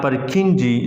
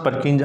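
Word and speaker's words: Purkinje: English था Perkin or Perkinji, some people pronounce Perkinji or Perkin, English scientist.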